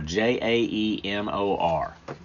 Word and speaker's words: Jaemor: Yes, it's spelled a little unusual, so Siri and Alexa, especially if you're from the South, probably won't understand what you mean when you say it, but it's J. Moore, Jaemor.